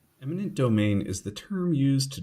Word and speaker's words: eminent domain: If you're thinking about adding eminent domain to your vocabulary, make sure to avoid the common mistake of pronouncing or writing it as imminent domain.